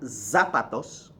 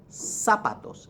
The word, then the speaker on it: zapatos: the shoes los zapatos it starts with a Z it's not zapatos it's sapatos it's an S sound